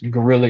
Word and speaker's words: Geauxrealla: So I actually started my own record label, which is Gorilla ENT, and I spell it GEAUXREALLA, like Go Gorilla.